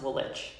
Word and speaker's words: Woolwich: Yeah, it's spelled Woolwich, but it's pronounced Woolwich.